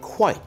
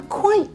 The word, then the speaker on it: quite: If we stress the word quite, the difference can get more marked. I'm quite tired. That means I'm very tired. I'm quite tired. That means I'm only fairly tired.